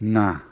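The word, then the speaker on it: ငါး: at the beginning of na the word for five we do have this sound in english we use it in words like sing and long but in english we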